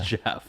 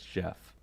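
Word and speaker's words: Geoff: how else is that it's a g it's jeff i texted you it's jeff g-e-o-f-f that's jeff it could be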